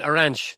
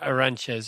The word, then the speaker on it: Arantes: Edson Aranch the Nashento. I'm trying to say it as a Brazilian now. Aranch, not Aranche or whatever as as we would say it as it's spelled. But what I thought was